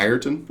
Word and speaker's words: Ayrton: Ayrton Senna. Ayrton?